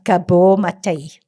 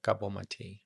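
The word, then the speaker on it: Gabor Maté: Um Kabul Mate Kabo Matei.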